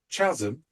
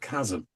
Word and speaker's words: chasm: So apparently, Morrissey, having only ever read stuff, was with Ian McCulloch, and he pronounced the word chasm instead of chasm because that's how he saw it.